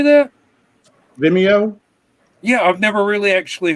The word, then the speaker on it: Vimeo: is that the right way to say that vimeo yeah i've never really actually heard anybody pronounce it before yeah it's a much better